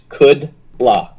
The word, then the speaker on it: Kudla: is is is pronounced kudla or kudla yeah um kudla is fine and uh the best pronounce his way is could La could La could L could la like I I could do it okay I KLA okay